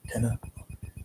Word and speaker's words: tenure: Tenner you pronounce it t n u r e uh tenner tenner how we pronounce it.